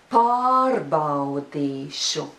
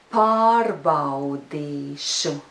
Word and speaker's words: Pārbaudīšu: And now all 4 syllables together. Pārbaudīšu. That's how it should sound. And the rhythm is yes, no, no, no. Of course, you can put a small stress on the 3rd syllable, but remember that stress should not be bigger than the stress on the 1st syllable.